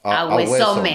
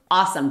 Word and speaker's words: awesome: Porque awesome. Se escribe a hueso. Si lo leemos en español, ¿no? Just awesome. Listen, awesome, como si fuera O-S-U-M.